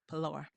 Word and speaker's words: Pilar: Pilar.